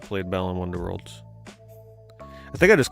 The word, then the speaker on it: Balan Wonderworld: have still not played Balan Wonderworld? I think I just called it Balan Wonderland, like everybody freaking does. I think it's the most like mispronounced name in the history of games.